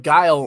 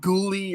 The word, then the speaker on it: Guile: i'm like it's like it's like guy but with the l like how do y'all miss that they were called ghoulie or something it was just it was just crazy i'm like it's guile y'all i have like